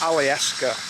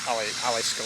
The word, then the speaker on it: Alyeska: Alaskan Auto Alaskan automobile it's Ali Esa I believe not Ali Alisa like I said alas